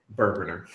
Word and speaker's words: Bourbonr: Bourboner. Just make sure. It never gets old. It's the silent. It's the silent E. Kind of like the I in Michael's exactly.